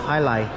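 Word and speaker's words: jai alai: It says right there, pronounced Jai-Alai.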